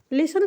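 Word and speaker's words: listen: एम ई मी तो लिसन को हम लिसन पढ़ रहे हैं टी तो हम पढ़ ही नहीं रहे हैं टी इसलिए नहीं पढ़ना है क्योंकि यहां पे साइलेंट है ठीक है एल आई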